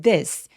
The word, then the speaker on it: this: 지금 여기 보이시는 this. S는 TH가 울림이 있는 TH예요. 그래서 이렇게 지시대명사 같은 경우에 울림이 있는 A, B, C, D의 D와 비슷하게 발음하셔도 이상하지 않습니다. 그래서 혀를 열심히 내밀지 않으셔도 돼요.